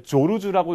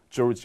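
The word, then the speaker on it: Georges: 이게 이 사람 스위스 산악인이니까 원래 조르주라고 읽기도 해요. 프랑스식 발음은 조르주 혹은 미국 그냥 편하게 미국은 조르지.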